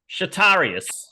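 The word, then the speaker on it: Chatarius: my first name is shatarius shatarius shatarias your name is spell it yes please because that'll help yeah okay just just for those playing at home uh c-h-a-t-a-r-i-u-s shitarius oh shitarius oh yeah Junior he's like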